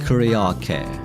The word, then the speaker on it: karaoke: Here again, when an English speaker says this word, they tend to pronounce the 3rd syllable o higher in pitch and longer than the others, while Japanese people pronounce karaoke.